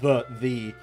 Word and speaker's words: ye: It's not ye olde English, just Old English. You know, it wasn't actually pronounced ye, it was still pronounced the, because the Y looked close enough to the thorn.